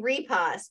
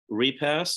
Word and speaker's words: Repas: to Dr Tom now I've been saying repos but how do you say your last name repass that's so it's pretty